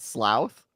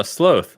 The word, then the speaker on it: sloth: Sloath is not slouth. Oh, sloth. Like cloak. You wouldn't say clouk. It's cloak.